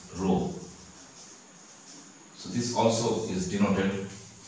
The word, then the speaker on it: rho: mass and this is a Greek letter which is pronounced as Rho you read it as Rho so this also is